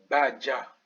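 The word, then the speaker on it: baca: Badja. Badja. Voilà la prononciation en français.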